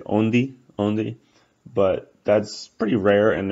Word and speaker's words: onde: When you have a word that ends with like a DE, for example, it actually gives a G sound.